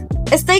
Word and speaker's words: estoy: Dominicans delete letters like it's not. estoy cansado, toy cansado más o menos ma o meno para allá, pa allá Also, pay attention to tone and the speed.